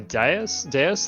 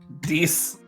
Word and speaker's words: dais: And it's like a dais that we're looking at, like kind of like a stone pedestal type thing, or It's pronounced Dees.